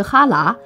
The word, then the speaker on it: 辽: 辽的契丹读音是哈喇，哈喇契丹就是辽契丹之意。